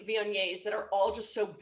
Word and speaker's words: Viognier: See, that's the pronunciation. I want to make this perfectly clear. Viognier. Viognier.